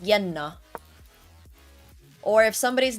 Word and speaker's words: Jenna: Or like if I have a friend whose name is Jenna, it's pronounced Yenna.